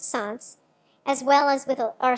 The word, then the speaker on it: солнце: Lyo, Welsh Hall, and Russian, Solz, pronounced Sans, as well as with our Sanskrit Svrav, and Persian Xvar.